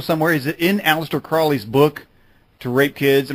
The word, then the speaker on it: Crowley: And when Crowley, his name was pronounced Crowley, not Crowley, which is very confusing.